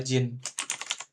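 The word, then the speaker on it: 人: Hito ya, Hito dibacanya jadi Jin di sini. Jin gitu ya.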